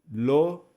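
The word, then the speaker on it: אֱלֹהִים: Então a palavra Elohim, de acordo com essa regrinha aqui didática, ficaria Elohim. 3 sílabas.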